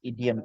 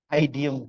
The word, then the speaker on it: idiom: After learning English a lot, then I think you are familiar with idiom is. Bacanya ingat ya, idiom bukan I diem. Aku sering dengar bilang I diem.